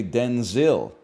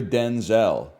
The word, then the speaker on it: Denzel: So she said from now on you're Denzel. That's how we got to pronounce Denzel. Washington clarified that his first name was originally pronounced Denzil as opposed to the Denzel he uses now.